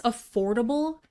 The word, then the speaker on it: affordable: Four syllables, stress the second syllable. Something that's affordable is easy for most people to pay for.